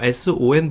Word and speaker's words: son: 물론 이거 son 보면 여러분 son이라고 읽고 싶으시죠? 네, 실제로 우리 손흥민 선수 있잖아요. 손흥민 선수 등에 보면 son이라고 쓰고 있어요. 하지만 이거는 여기서 오는 발음 납니다. son, sun처럼 읽으시면 돼요.